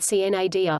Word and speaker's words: sine die: Under the parliamentary law of Congress, when this happened, Congress became sine die, pronounced cnadia, literally, without day, and